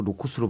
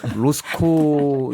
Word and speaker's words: 로스코: 네, 로스코 작가. 예. 네, 자꾸 로코스로 발음이 돼서 제가 문화예술의 두뇌가 없어서 로스코 이게 작고하신 화가인데 로스코의 가족이 왔기 때문에 그래서 그 자리에 사담회를 가진 거다라는 주장이잖아요.